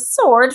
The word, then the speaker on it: sword: This is a sword for fighting. The W is silent.